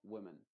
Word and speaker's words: women: a esta I modificada por ejemplo women la o y la e están representando a una a una i modificada se pronunciaría como women women no se dice women men sino women men las dos vocales son la misma a pesar de que